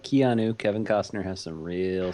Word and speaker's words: Keanu: then five really terrible ones his no it's Keanu Reeves kanu re what the heck icky you